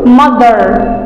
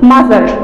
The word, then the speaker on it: mother: mother وخلي بالكم ان th بنطلع فيها السنة، لازم نقول mother mother، ما ينفعش نقول mother كده مش هينفع وغلط، لازم نقول mother.